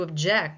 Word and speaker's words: object: When I refer to something as an object, a noun, an object on the table, then I am using the primary stress on the first syllable. But if I were to say to object as in a court of law, object, the second syllable becomes the primary stress syllable.